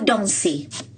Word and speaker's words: dansez: And for words which end with ER and EZ, it is pronounced as A. For example, danser. You have vous dansez.